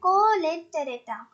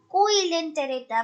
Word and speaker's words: Coelenterata: इसकी pronunciation आप जरूर देखें. कोलेंटेरेटा. Many of you will read it like coelenterata, but it is not the correct one.